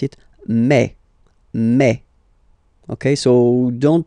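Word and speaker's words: mai: so really open a okay and then you pronounce it may may ok so don't pronounce you don't try to pronounce it no it's May May so it's not my it's May okay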